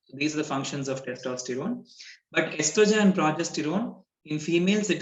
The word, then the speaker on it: estrogen: And ovaries produce hormones, two hormones called estrogen and progesterone. And here the O is silent. Like in esophagus also, O is silent. So it's just estrogen and progesterone.